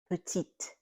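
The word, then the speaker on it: petite: But the second one, petit, the T is not silent. Why? Because it's not at the end of the word.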